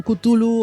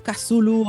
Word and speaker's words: Cthulhu: de pronunciar su nombre Porque la comunidad lectora no se pone muy de acuerdo a este respecto algunos lo llaman cutulu otros cazulu otros Tulum nosotros lo vamos a llamar cutulo porque es la forma